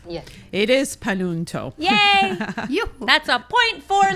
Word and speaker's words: Panunto: So yes, and thank you for pronouncing my family name correctly. Yes. It is Panunto.